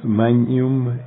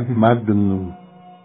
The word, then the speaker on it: magnum: et Terra y el y decíamos magum y el decía Magnum deca se le quita toda la grandeza al Magnum diendo mañum eso en pequeñeces la